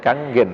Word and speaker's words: Kangen: Kangen motor. Kalau seorang Jawa baca tulisan gitu bacanya kangen, harusnya bacanya kanggen ya.